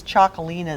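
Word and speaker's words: Txakoli: uh could tell by the name but it's chocolina is how you pronounce this it's TX a k o i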